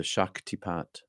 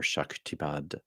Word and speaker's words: Shaktipat: It's among us and within us, inside us, the Shaktipat or Shaktipad, depending on your pronunciation, Soma, the energy transference, the divine love presence.